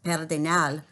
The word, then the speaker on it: Pedernal: And just to let you know, Pedernal also is a Spanish word pronounced Pedernal, and a Pedernal is actually a flat top mountain in New Mexico.